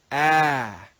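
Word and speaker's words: æ: The letter ash is pronounced with the sound ah, ah, ah. That's not a sound in Latin. This is an Old English sound.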